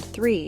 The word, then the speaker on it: three: The word three should be pronounced with a soft th sound, followed by a long E sound.